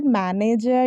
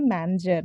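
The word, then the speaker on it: manager: इट्स में इट्स नॉट मैनेजर इट्स नॉट मैनेजर इट्स नॉट मैनेज है ठीक है ये सब गलत होता है इसका जो करेक्ट प्रनंसीएशन है वो है मंजर मंजर इट्स एम ए एन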